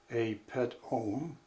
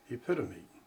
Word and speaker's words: epitome: For example, words with silent letters may be mispronounced. Off 10. A pet-ome instead of epitome.